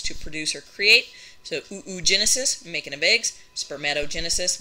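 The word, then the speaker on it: oogenesis: uterus yay mom so we called this process of making eggs ooo Genesis and I swear to you that's honestly how it's spelled ooo which is a Greek word for egg Genesis and then for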